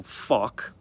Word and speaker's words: Fawkes: Fawkes is spelt with the F-A-W, so K, so Fawkes.